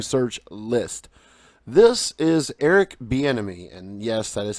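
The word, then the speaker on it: Bieniemy: Browns head coaching search list this is Eric B enemy and yes that is how you say his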